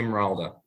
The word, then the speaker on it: Morolda: Am I pronouncing it correctly? Yes, Tommy Morolda.